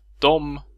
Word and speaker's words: dem: Och vi får då uttalet dom, döm eller döm.